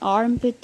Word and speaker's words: armpit: You all know what an armpit is, or the underarm. It's a hollow under the arms at the shoulder. In British, R is silent.